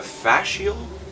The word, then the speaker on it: fascial: Now, you said into your career and your day-to-day right now at the clinic, you're a fascial? Is that how it pronounced it correctly? Yeah, not facial.